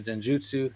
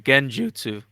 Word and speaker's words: genjutsu: bro you kill him I keep saying it wrong again trying to say it's like the Jiff and GIF thing no this one is actually genjutsu yeah so he